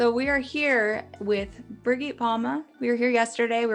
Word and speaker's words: Birgit Palma: My name is, in German said, Birgit Palma.